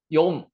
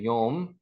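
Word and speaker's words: יום: 욤 한번 해보세요. 욤, 욤, 욤이 낮입니다. 낮, 낮. 아까 라에라라고 그 문장 안에서는 발음을 했고요.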